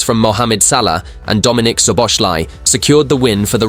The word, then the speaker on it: Szoboszlai: In that media appearance, Guardiola mispronounced both Szoboszlai and Gravenberch's names. He said Salah, of course, but now with Svolaci and Gravenberch, so they are fantastic.